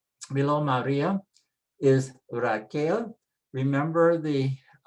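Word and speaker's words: María: It tells you where to put the stress. Maria, Maria. If we didn't have the accent, it would be Maria, Maria.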